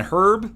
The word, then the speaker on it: herb: Look, in different parts of the world, you pronounce herb differently. Some people say herb, some people say herb. It's not right or wrong. It's just, you know, it's a regional difference in dialect.